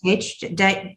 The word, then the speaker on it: Faerch: It's Farouk or something. It's Faerch. Dig Fierch.